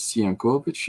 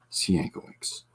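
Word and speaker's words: Sienkiewicz: might read it as siankovich if you are polish but he pronounces it by the anglicized see ankle X um well if you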